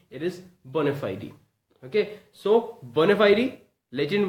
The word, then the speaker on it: bona fide: see over here it's bona fide e it's Phi D okay there's a sound there's a very little sound of I after D bona fide e okay